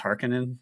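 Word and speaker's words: Harkonnen: question pronunciation of haran I've always pronounced it har Conan the film is Harin it is harkonen in the the text itself but it's all these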